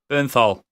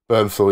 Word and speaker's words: Bernthal: B is that how you say his name Bernthal Bernthal yeah his character is brilliant because the only